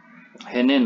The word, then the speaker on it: henen: Henen, maaf ya, bukan henon. Ini dibacanya henen.